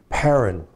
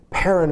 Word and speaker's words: Paran: Anyway, Paran is made up of, here's how it's spelled. The first part of the word is pronounced pay, as in pay, which means mouth or opening.